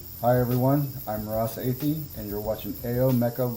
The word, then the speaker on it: Athey: Ross Athey.